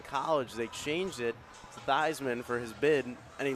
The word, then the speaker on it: Theismann: It's actually the pronunciation of his last name used to be Theismann, and then in college they changed it to Theismann for his bid, and he lost.